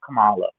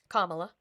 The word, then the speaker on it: Kamala: I whatever both could be true but I felt that's the type of energy that I felt from Camala. Kamala.